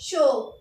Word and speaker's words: chaud: Word ending होगी हमारी D। जैसे कि D, अब किसी वर्ड में D आता है, तो जैसे कि CHAUD। तो इसको हम क्या बोलेंगे? इसको प्रोनाउंस करेंगे शो।